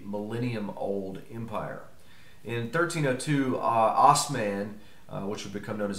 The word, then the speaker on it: Osman: old Empire in 1302 Osman which would become known as Osman the Great or auth men in the great where the term ottoman comes from which was a mispronunciation by Western Europeans Osman would become the